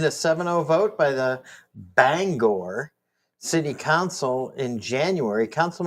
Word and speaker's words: Bangor: That's not how it's spelled there. It's not. No, it is too bangor.